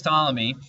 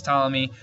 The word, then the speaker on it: Ptolemy: other astronomers now Claudius Ptolemy and I know there's a p there but you don't pronounce the P it's silent Claudius Ptolemy was the most famous